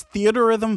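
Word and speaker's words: Theatrhythm: game in question is theater Rhythm final bar line and yes that's how it's pronounced It's a combination of theater and Rhythm because it's a rhythm game if you're interested there's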